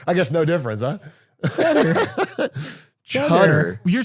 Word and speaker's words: Cheddar: Are you saying cheddar? You're saying cheddar, like the cheese. Cheddar. You said chutter, like a chud.